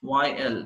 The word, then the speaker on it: methyl: यानी प्रोनाउंस क्या करेंगे आप, this is the methyl, methyl, not the methane but methyl. So agar radical mein ek carbon maujood hai, so it should be pronounced as methyl.